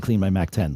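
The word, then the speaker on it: CleanMyMac X: period of time, and they corrected us when we did the read and said Clean My Mac 10. So Clean My Mac X is definitely the right way to say the name of that app.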